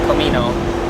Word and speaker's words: Comino: It actually costs more to go to Comino, or Comino, as they pronounce it here.